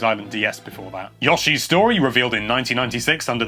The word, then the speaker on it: Yoshi: have to wait until Yoshi's Island DS before that Yoshi's story revealed in 1996 under the name Yoshi's Island 64 yes I pronounce it Yoshi not Yoshi everyone in the UK does that that is normal you are